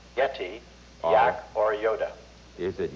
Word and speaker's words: yeti: proper name for the abominable snowman is it yetai yak or yoda jim that's pronounced yeti yak or yoda is it yeti yak or